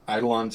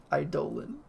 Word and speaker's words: Eidolon: Eidolon. I mean, that's how you pronounce it. It's dumb. You shouldn't, the Greeks are wrong. It should be Eidolon. Eidolon sounds so much cooler than Eidolon. They're weird. Eidolon, it rhymes with colon.